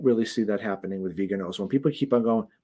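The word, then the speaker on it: Viganò: The only thing that would have made his response to that guy better would have been, so first of all, it's Vigano, not Vigano.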